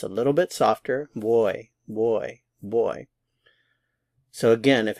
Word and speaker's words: voy: some Spanish speakers say boy boy boy it sounds a lot like the English word boy b y it's a little bit softer boy boy boy so again